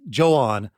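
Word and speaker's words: João: I went with the first guy, who I'm sorry Portuguese listeners, is Johan, maybe Joah. In Japanese is pronounced Joan.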